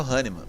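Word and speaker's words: Hahnemann: É essa a pronúncia correta? Isso. Samuel Haniman.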